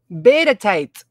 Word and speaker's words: Bedetite: How to pronounce. Beta tight.